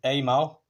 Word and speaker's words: Amal: we can see that it's an ammo carburetor I know some people pronounce it Amal um that's a matter of preference obviously um I did do